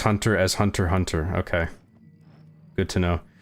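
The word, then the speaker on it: Hunter × Hunter: You can say hunter x hunter as hunter. Hunter. Okay, good to know. You pronounce it just hunter hunter. No cross or saying x.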